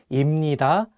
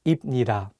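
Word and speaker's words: 입니다: might want to say but the correct pronunciations are actually imnida and hamnida then those are constant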